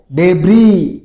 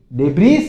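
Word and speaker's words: debris: तुम नहीं बोलना तुम बोलना है फिर देखो डेबरी डेबरी इसमें एस साइलेंट रहता है इसमें सिर्फ आपको बोलना है डेबरी डेबरी यानी मलवा किसी चीज का मलवा होता है ना मकान का मलवा या फिर कचरे का मलवा कुछ भी इसको क्या बोलोगे डेबरी डेबिस नहीं बोलो बहुत से बहुत बच्चे बोल जाते हैं डेबिस डेबिस नहीं होता है डेबरी होता है फिर देखो नी नी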